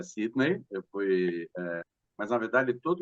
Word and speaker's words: Sidney: pronúncia é Sidney.